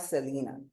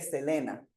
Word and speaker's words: Selena: Al llegar aquí a los Estados Unidos, mi nombre cambió porque los americanos no pronuncian las es todas iguales y me empezaron a llamar Celina y el Celina cayó mejor con mi personalidad que el Selena.